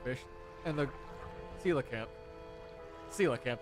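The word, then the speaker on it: coelacanth: Sila camp, I think, is how those are actually pronounced despite how it's oddly spelled.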